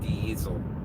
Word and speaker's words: Diesel: In German, that's going to be pronounced like a Z. Diesel.